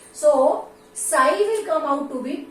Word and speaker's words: psi: So this is called as, right, psi. We pronounce it as psi.